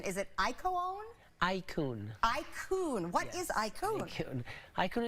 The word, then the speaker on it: iCoone: Help me with the pronunciation. Is it iCoone? iCoone.